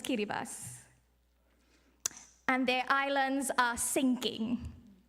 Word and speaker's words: Kiribati: I met recently from kiribas you might see it spelled as Kiribati but the proper pronunciation is kiribas and their islands are